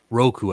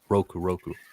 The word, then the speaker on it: Roku: Ruko is related to Zuko. Yeah, that's right. I thought so. I don't know why I backtracked on that. I need to go back and rewatch Avatar. Roku, I can't pronounce it wrong way. Roku. Yeah, Roku Avatar is Zuko's great grandfather.